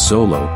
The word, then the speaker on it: Xolo: underworld lightning and death you may also pronounce Solo in its simplest form it's the national dog